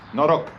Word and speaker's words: noroc: Noroc.